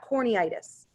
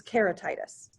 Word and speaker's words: keratitis: inflammation of the cornea it's not corny itis it's keratitis it's just what they